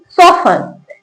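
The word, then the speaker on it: soften: Word के last में टी ई एन लिखा हो तो टी साइलेंट रहता है। कैसे पढ़ेंगे? लिसन ऑफन ऑफन सोफन।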